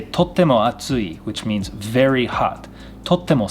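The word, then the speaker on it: 暑い: Atsui. Soto wa atsui. It is hot outside. Atsui. This is not asui, but atsui. Tsu sound, not su sound.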